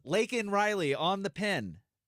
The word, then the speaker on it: Laken Riley: Laken Riley, she says.